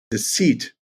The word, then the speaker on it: Dixit: the past 10 years is a game called deceit which is spelled dixit d-i-x-i-t um right and it is